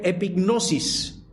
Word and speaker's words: epignosis: Usa una palabra griega que se pronuncia epignosis, que habla de un conocimiento pleno, de un conocimiento absoluto o lleno de algo o de alguien.